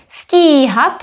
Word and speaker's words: stíhat: Stíhat is phonetically longer. Stíhat, stihnout. It is visually longer, but it doesn't have an accent.